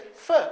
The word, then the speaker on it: for: but the word for actually she didn't say for she said fur are you staying at your parents for new year and fa is the weak form fur is the weak form of the pronunciation and you're staying on